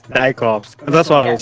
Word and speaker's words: Dijkhoffz: Yeah, it's Dutch. Okay, all right. That It's, was it's, it's pronounced Dijkhoffz. Dijkhoffz.